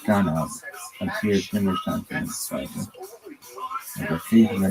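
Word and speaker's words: גנב: The original Hebrew word with the root GNV, pronounced ganav, appears numerous times in the Bible.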